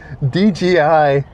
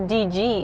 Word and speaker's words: DJI: It's DJI DJI Action 4. You're f Oh yeah, it's not DG. It's DJ. Huh? DJ. That's crazy because I think a lot of people pronounce it DG.